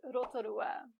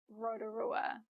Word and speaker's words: Rotorua: Though you might have also heard it called Rotorua, which I admit I used to say for many years. But this is a Māori place name, and we're going to practice saying it correctly with Māori sounds.